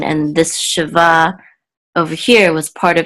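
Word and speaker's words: שבע: So this is, the accent was on the last syllable because it really went together with this word right here to say 17, not just 7. But here, it's just Sheva, because it's just 7, not 17.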